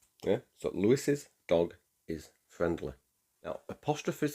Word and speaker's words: Lewis's: However, it is pronounced Lewis's, but we spell it without the other S. Yeah, so Lewis's dog is friendly.